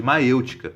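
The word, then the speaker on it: maiêutica: Esse processo de autodescoberta da verdade, ele chamava de maêutica, que é uma palavra grega que significa parto de ideias. Maêutica se escreve assim: M-A-I-E-U-T-I-C-A, acento circunflexo no E.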